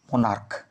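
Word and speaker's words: monarch: এ আর সি এইচ মনার্ক উচ্চারণ কিন্তু হচ্ছে ক এর মতো সি এইচ এর উচ্চারণ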